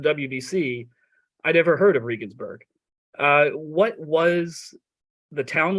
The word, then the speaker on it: Regensburg: How did I pronounce that right? Okay. Regensburg.